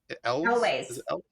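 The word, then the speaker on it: Elwes: Carrie, and I never can pronounce his last name. Elways.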